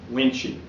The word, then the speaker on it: Wuensche: My name is Wuensche, pronounced as Wuensche.